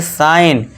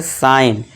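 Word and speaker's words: sign: साइन। क्यों? क्योंकि दोस्तों देखिए जी के बाद क्या है हमारा? एन है। तो जी साइलेंट हो जाएगा। इसे क्या पढ़ेंगे? साइन।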